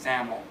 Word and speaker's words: XAML: as the extensible application markup language XL pronounced zaml uh some people have